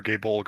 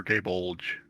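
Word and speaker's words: Gáe Bolg: supposed to pronounce it it's either gay bolg or gay bulge yeah you you had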